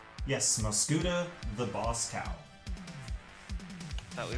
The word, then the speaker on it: Mosghuta: This one is called, it's a tough word to pronounce. Every dog has his bone. It is Mosghuta. Is that her name? Yes, Mosghuta, the boss cow.